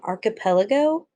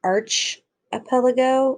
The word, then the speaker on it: archipelago: talk about is an archipelago it's not arch epeligo it's arc so make sure you're saying archipelago a large group of